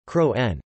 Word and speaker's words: kroon: The word kroon, Estonian pronunciation, kroon, crown, is related to that